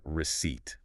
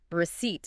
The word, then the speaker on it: receipt: Yeah, you're really emphasizing that P at the end, but that P is actually silent.